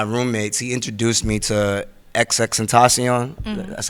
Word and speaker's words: XXXTentacion: And around that time, one of my roommates, he introduced me to XXXTentacion. Mm-hmm. That's how you pronounce this?